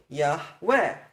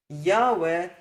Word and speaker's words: Yahweh: just sing it normally, Yahweh. Put the emphasis at the end, remember? Don't put the emphasis at the beginning. If you pronounce the name as Yahweh, that is technically incorrect,